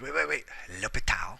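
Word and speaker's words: L'Hôpital: Wait. L'Hopital. Gotta say it like French.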